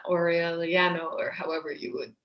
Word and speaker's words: Aureliano: your head, for example, a name like Aureliano, which is repeated hundreds of times in the novel, the A and the U are separate. It's Aureliano, right? It's not Aureliano, or however you would say it in English.